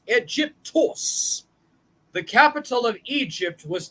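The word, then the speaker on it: Αἴγυπτος: of the first settlements the word Egypt is of Greek origin and originally pronounced egyptos egyptos the capital of Egypt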